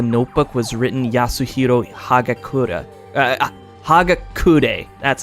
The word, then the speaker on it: Hagakure: Hagakure. That's how you pronounce it.